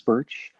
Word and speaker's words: Burch: sure so on instagram at pottery by birch my last name is spelled b-u-r-c-h and i'm all i have a little etsy shop too it's pottery by birch all one word thank you for being